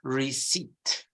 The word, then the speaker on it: receipt: word is okay and it's pronounced receipt silent P you see that p is silent receipt receipt can I have